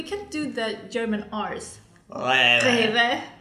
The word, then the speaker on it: Rewe: Can you pronounce that one? Rewe, best of all. We can do the German R's. Rewe. Rewe.